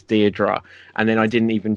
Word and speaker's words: Deirdre: which is Deirdre and you correct that it's Deirdre and then I didn't even check on your